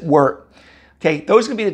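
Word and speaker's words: wort: syrup called work okay spell w-o-r-t you know we pronounce it word okay those can be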